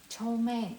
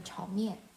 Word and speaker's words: Chow Mein: Like a Chow Mein actually is a pronunciation from Cantonese, and for me in English I say fried noodles, and in Mandarin I say like a Chaw Mein.